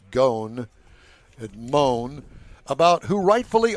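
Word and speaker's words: Ghosn: with former chairman Carlos I call him Goen I think it's pronounced gone and moan about who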